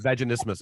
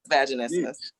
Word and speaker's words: vaginismus: I can't pronounce it. Vaginismus, I believe it's called.